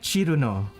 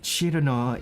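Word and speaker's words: チルノ: That's how Japanese people pronounce it. Like I used to pronounce it Cirno, but enough people, I have listened to enough people pronouncing it Cirno that it's sort of, it's more like Chiruno. More like Chiruno in Japanese.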